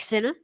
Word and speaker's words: Sinner: that one long janik sinner so it is thirty-oh that's all we're not from said yeah it's uh it's pretty good that is his name does rhyme with winner ah james black i